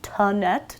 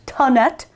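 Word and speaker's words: Thonet: I just love a I never know how to say this T tonet tonet chair I think is how you say it or they're also known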